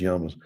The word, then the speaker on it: llamas: Um llamas. We have might say yamas. They're actually pronounced yamas.